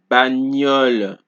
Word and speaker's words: bagnole: So the GN in French is pronounced similarly to NI in the word onion in English. Example, agneau, bagnole, espagnol.